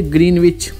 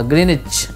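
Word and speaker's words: Greenwich: ग्रीनविच वाला line होगा, ग्रीनविच इसको कहते हैं, प्रोनाउंसिएशन ग्रीनविच नहीं कहते हैं, ग्रीनविच कहते हैं।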